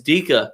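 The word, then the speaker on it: Dijk: I was like, dude, how do you say this name? And he was like, yeah, it's Dika. And I was like, no, it fucking isn't.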